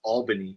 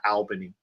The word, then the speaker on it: Albany: By the way, it's Albany, not Albany. Um, it's so you say it like with two L's, not with like Al.